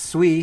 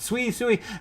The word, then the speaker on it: Sui: That's Sui, if you guys want to pronounce it. Sui.